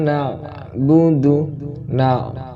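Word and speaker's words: نَعْبُدُ: Iyyaka na'budu. Ain, pakai ain, jangan iyyaka na pakai hamzah, tetapi di sini kita harus wajib pakai ain. Yang kita baca adalah ain.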